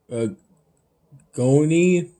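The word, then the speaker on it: agnolotti: for the restaurant housemade a gon not sure if it I pronounce that correctly it starts with the G but that g is silent and it's essentially bits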